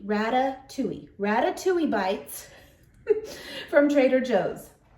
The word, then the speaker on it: Ratatouille: hauled it what makes me think I can pronounce it this time but I'm gonna try Rattata okay hold on Ratatouille Rada Tui Ratatouille bites from Trader Joe's they are wonderful